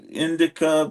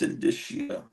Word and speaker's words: indicia: done in indicia or however you pronounce that stupid word is it indica or indicia or I used to say Inda but then I've I've looked it up and it's indicia but I I may still be mispronouncing it 55 that's when the